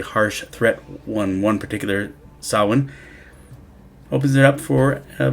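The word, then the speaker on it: Samhain: is largely rooted in the Celtic sawen why it's spelled that way I have no idea it drives me nuts but the ancient Celts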